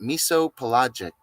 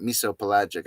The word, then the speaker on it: mesopelagic: it's a mesopelagic species say it miso pelagic well you could say miso pelagic that's how you say it miso pelagic I can't hear myself